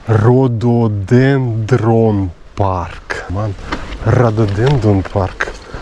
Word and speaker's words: rhododendron: here 100 m Here in this direction Radonden Park there was a sign It's quite possible that I'm pronouncing it incorrectly The word is too tricky 700 m Rhododen No, what's correct rhododendron park Radoden Park How come I shortened the